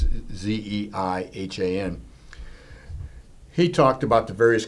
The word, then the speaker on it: Zeihan: I believe I pronounced his name. It's Zeihan.